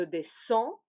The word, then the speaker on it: descends: Simplement, au singulier, le D ne se prononce pas et au pluriel, oui, il se prononce. Oui? Donc, je descends, tu descends, il, elle, on descend.